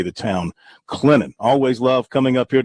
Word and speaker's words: Clinton: It's not Clinton, it's Clinton. Just sort of flows from the N to the T. Those of us experienced in South Carolina, we know the proper way to say the town, Clinton.